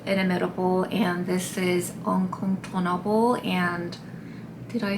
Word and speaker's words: Incontournable: So, this is called Inimitable and this is Incontournable and did I say it right? Incontournable.